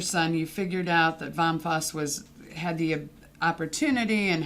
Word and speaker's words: Vom Fass: distributor to us so vom fass litsa first before we get into that bomb fuss in german it's a german franchise